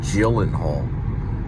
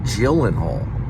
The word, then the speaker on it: Gyllenhaal: It's actually Gyllen, like Jill, like a J. Jake Gyllenhaal. I've been saying it wrong for like, I don't know, a long time, like 20 years. It's Jake Gyllenhaal.